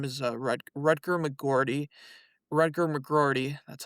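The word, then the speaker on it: Rutger McGroarty: Rutgar McGordy, that's how you say his name.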